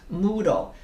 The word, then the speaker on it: Moodle: on how to use moodle so it's spelled m-o-o like moo you know like in a c like in a cow and then d-l-e like candle you know d-l-e moodle and i and don't ask